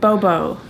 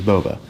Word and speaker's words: Boba: Bubba Fett and then I said Bobo and it's not okay chimpanzee either not a redneck or a chimpanzee his name is Boba like the Delicious Japanese